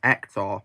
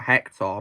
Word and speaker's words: Hector: I pronounced his first name as Hector, not Hector, because in Spain H is silent in stuff.